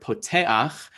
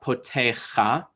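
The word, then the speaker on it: פותח: But with the ayin, it's a patach genuva, that a sound is going to come before the consonant, right? So here that's difficult because the ayin is kind of also like a vowel. But here in the word poteach, this is really helpful. It is not potecha, right?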